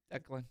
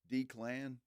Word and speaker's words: Declan: It's spelled D-E-C-L-A-N. Declan. It's Declan. D-Clan. The Clan. Let's go with Declan. All right, we'll go with Declan. Declan Far, Doyle. Far better than D-Clan.